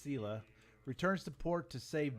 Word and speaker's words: Scylla: years the Selah returns Scylla but I think it's pronounced Selah returns to port to